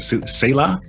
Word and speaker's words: Selah: How do you say it? Selah? Selah's Selah, Bridge. like in the Bible, Selah's Bridge.